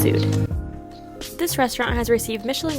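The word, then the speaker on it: Soothr: Up next is one of the hottest restaurants in New York right now, known as Soother, but properly pronounced Sood.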